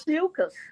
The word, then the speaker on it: Ophiuchus: How do you pronounce it? Ophiuchus? How do you Ophiuchus? Ophiuchus.